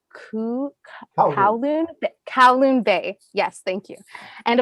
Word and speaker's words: Kowloon Bay: also been developing, I asked you about the pronunciation before, but it's Kowloon Bay.